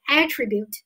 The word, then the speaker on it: attribute: 当我读成 attribute，名前动后 attribute，作为名词的话，它表示的是特征、特性。